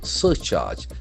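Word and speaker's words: surcharge: Search charge. That's beautiful word. S U R C H A R G E. As you know the middle uh E is silent.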